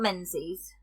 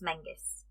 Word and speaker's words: Menzies: yeah unstable um so it's not Menzies okay it's Mingus interesting that is very